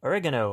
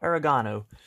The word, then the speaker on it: oregano: spinach, tomato cherry, and oregano or oregano, depending on your location around the world and how you decide to pronounce things.